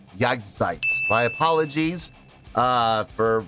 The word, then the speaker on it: Jagdzeit: was pronouncing this wrong it's not Jack zeit it's jagsites my apologies uh for